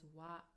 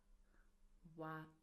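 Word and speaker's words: は: So as you can see, we write it as hiragana ha, but we pronounce it as a particle as wa, wa.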